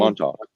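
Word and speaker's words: Montauk: it was actually going to be called uh Montalk. I think that's how you pronounce that. I I can never remember. It's a It's a Monttok. Is that what it's called? Montalk.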